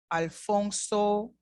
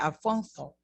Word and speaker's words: Alfonso: If I was from Spain, I would have said Alfonso. But in Latin America, we say Alfonso. In Spain, however, they would have pronounced Alfonso. But it's still the same name.